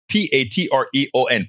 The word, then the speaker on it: Patreon: Patron is spelled Patreon. Patreon.